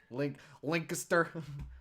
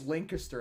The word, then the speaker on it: Lancaster: How do you pronounce that? Lancaster. Lancaster.